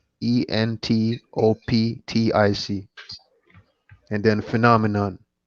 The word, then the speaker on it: entoptic: And entoptic. It's how it's pronounced though.